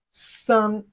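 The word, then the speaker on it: 三: Three in Chinese is another easy number to pronounce, san. Sun, it has the fourth tone of Chinese language, the first tone, which is the flat tone. Sun, very simple to pronounce.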